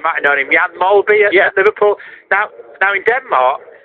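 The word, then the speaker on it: Mølby: Well, but, he used to say, well, if I was in Denmark, it's Molbu, and he just said, I'm Molby.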